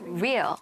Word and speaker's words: real: all] Thank you (CHANMINA) You're saying "rear," but it's "real" Not "u," but "re" [NAOKO struggles with pronunciation] You're not good at R's.